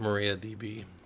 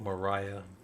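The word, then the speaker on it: MariaDB: that says I um I've always called it Maria DB and I've heard people call it Mariah Mariah I don't I don't like that I'm going to keep calling it Maria because that's how it's spelled yeah but I'm pretty sure it's spelled hold on but that's how it's spelled so if they wanted it to be Mariah they should have spelled it Mariah they spelled it Maria right I mean it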